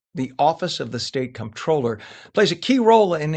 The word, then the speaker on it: comptroller: and they say they've heard it pronounced controller, comptroller. Tell us what a controller does. And it's all about the bucks, right? That's absolutely right. And it is comptroller with a P.